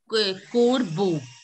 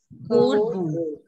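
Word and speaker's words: corbeau: It is corbo. Corbo. See, O-R is pronounced as O-R. O-R is pronounced as or. Or. And E-A-U, you already know that it is pronounced as O. So it will be corbo.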